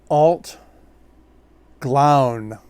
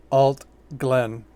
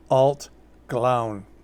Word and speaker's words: Allt Gleann: from the isle of skye and this is pronounced alt glown but the brand ambassador did say it's fine to call it alt glenn but it's in gaelic it's pronounced alt glown just rolls right off the tongue they are